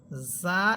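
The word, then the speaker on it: ظاء: যা হরফের মাখরাজ আপনাদেরকে আগেও বলেছিলাম। যে জিহ্বার অগ্রভাগ সামনের নিচের দুই দাতার আকার সাথে লাগবে। যা যা। যেটা ছিল সিনের মধ্যে। এরপর আমরা পড়েছিলাম সদের মধ্যে যে জিহ্বার অগ্রভাগ সামনের নিচে দুই দাতের আগার সাথে লাগবে।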